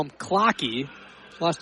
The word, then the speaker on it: Kloke: That's Noah Cloak. As Blake Fisher makes the tackle there. It'll be 3rd down and 7, so a 3-yard pickup for Cloak.